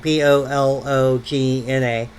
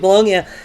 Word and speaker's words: Bologna: um, which is spelled Bologna as we would spell it, Bologna. We pronounce it Bologna.